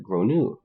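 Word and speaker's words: Gráinne: She asked what I meant, and I said, well, in Ireland, they typically pronounce it like Gronu.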